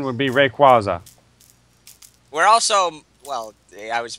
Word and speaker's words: Rayquaza: I know but I always heard it proper pronunciation would be Rayquaza we're also well I was about to say